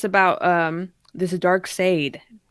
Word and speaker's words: Darkseid: um this is a dark sade is that how you say it dark side yeah it's weird they spelled it weird that's just dc yeah